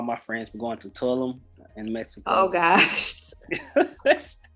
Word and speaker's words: Tulum: Oh, I said Tulum. Yeah. It's Tulum. That's how you pronounce it? It's Tulum. Well, a lot of people say Tulum. That's generally how I've heard it pronounced, but which is great.